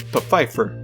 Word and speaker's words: Pfeiffer: one more series the secret diary of desmond pfeiffer yes that's actually how you pronounce it not too many people were happy